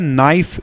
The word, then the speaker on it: NIFE: तो देखिए इसको कहा जाता है नाइफ, NIFE, निकेल का NI और फेरस का Fe, फेरस यानी कि आयरन। तो इसको कहा जाता है नाइफ, और हिंदी में इसको अगर आप प्रोनाउंसिएशन करेंगे तो इसको नीफे कहा जाता है।